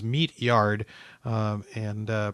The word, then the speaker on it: Meatyard: Eugene meard uh is spelled kind of like it sounds meatyard um and uh pronounced as far as I've ever known meatyard and uh meatyard was a fascinating photographer